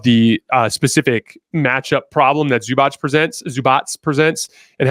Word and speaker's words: Zubac: Here, they're going to actually run through Zubac in the post. Zubats, I should say. I'm trying to learn how to pronounce these guys better.